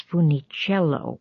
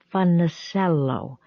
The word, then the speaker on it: Funicello: family except his parents began pronouncing their last name not as Funicello but as something that sounded like fun the sello in other words they pronounced it the way that someone unfamiliar with the Italian surnames might it would be many